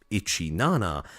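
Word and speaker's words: イチナナ: live streaming apps called 17 live pronounced ichin Nana as a new graduate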